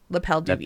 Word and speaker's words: L'appel du vide: For podcast listeners, it's spelled L'Appel L'appel DUVIDE. It's French. L'appel du vide. L'appel du vide. Not sous vide.